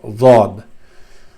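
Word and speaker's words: ض: It's pronounced very it has a difficult sound source, but we'll come to that later. Many people you can consider it close to dal and zal or dal, mix of these two, but the sound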